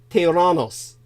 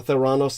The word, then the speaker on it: Theranos: Now, did you hear me talk about Theranos, the correct Greek pronunciation, or Theranos in the past?